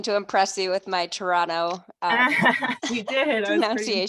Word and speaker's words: Toronto: And I was again, hoping to impress you with my Toronto you did. I was pretty pronunciation. impressed. Yeah, you skipped the second T. No one says it if you're actually from Toronto.